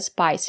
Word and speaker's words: spice: We have the letter I and the silent E. We pronounce the letter I as the long I like in hike and like. Spice.